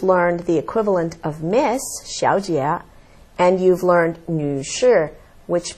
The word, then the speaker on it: 小姐: Xiao is a combination of she and ao, and it's not too hard. Xiao. And then jie is G and E, jie. Yes. So together it's pronounced as 小姐.